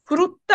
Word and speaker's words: frutta: আচ্ছা, দি ফ্রুত্তা বানানটা এফ এ এফ এ উ আর উ, ফ্রুত্তা।